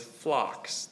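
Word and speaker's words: phlox: So, this word actually has a homonym. The word is flocks.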